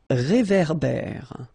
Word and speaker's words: réverbère: So here you've got this accent aigu, et, and then here you've got this accent grave, é. Okay, et, é. So it goes like réverbère. Okay, un réverbère.